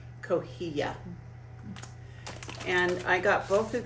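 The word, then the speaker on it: cotija: salad, and that is kohia cheese. C O T I J A. I pronounce I believe that's pronounced Coia.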